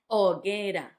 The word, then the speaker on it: hoguera: Hoguera had the difficulty of the H at the start, not hoguera, and it also had the gue. That sounds ge. Hoguera, hoguera.